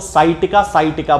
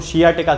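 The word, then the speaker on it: sciatica: खास तौर से जो पेशेंट हैं वो हमेशा सियाटिका को साइटिका बोलते हैं। तो ये साइटिका एक जनरल प्रोनाउंसिएशन अब इसका बन चुका है, वैसे यदि देखा जाए तो इसको सियाटिका कहना चाहिए।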